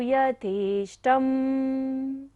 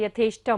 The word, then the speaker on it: यथेष्टम्: नाथमेकम् कस्तान्निवारयति संचरतो यथेष्टम्। शा है यथेष्टम, मूर्धन्य शा, यथेष्टम्।